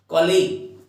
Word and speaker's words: colleague: कलीग होता है ये, कलीग बोल देते हैं कलीग। तो कॉलीग इसका जो करेक्ट जो इसकी प्रोनाउंसिएशन है वो कॉलीग है।